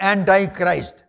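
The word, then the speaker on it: Antichrist: యేసు అనగా యేసుకు విరోధమైన వాడు యాంటై క్రైస్ట్ అని ఇంగ్లీష్లో అంటారు. యాంటై క్రైస్ట్ అనండి, నాట్ యాంటీ క్రైస్ట్, that's wrong pronunciation. యాంటీ క్రైస్ట్, యాంటీ క్రైస్ట్ ఈజ్ an error. It's a wrong pronunciation.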